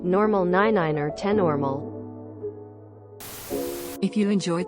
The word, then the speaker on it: niner: five five 6 normal 7 normal 8 normal 9 ner 10 normal if you enjoyed this video please